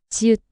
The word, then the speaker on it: 지읒: 지읒, 지읒, 즈, 즈. And ch sound like in jam, but softer and unaspirated.